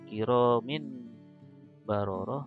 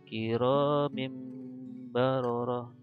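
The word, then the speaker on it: كرام بررة: Contoh yang lainnya ini ada kasroten atau tanwin kasroh bertemu dengan ba, maka bacanya bukan kiromin baroroh tapi kiromim baroroh.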